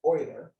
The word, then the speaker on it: Euler: spells it looks like euler but it's actually pronounced euler and euler's formula is how we can tell